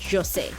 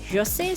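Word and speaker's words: José: draw and create Jose, who I kept pronouncing Jose, and he himself pronounces it Jose, so I'm gonna try and say it properly from now on, but I'll probably say Jose by mistake here and there.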